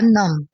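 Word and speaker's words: numb: माय फीथ आर नम। माय फीथ आर नम। यहां पे बी जो है वो साइलेंट होगा।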